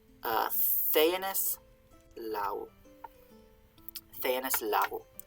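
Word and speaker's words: lagu: Now, lau, L-A-G-U, means law.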